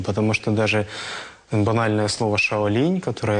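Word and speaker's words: 少林: что даже банальное слово Шаолинь которое я повторял для китайцев ничего не значит потому что в китайском произношении это звучит Как шаолинс вот и Через неделю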